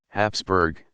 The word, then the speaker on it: Habsburg: more than 600 years also spelled habsburg which is closer to the pronunciation Habsburg the name came from